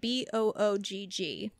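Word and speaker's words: Böögg: Bock is spelled B-O-O-G-G, like boog. Okay, like boogie.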